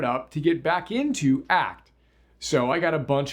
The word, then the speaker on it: ACT: and commitment therapy or act AC pronounced act for short Act was created by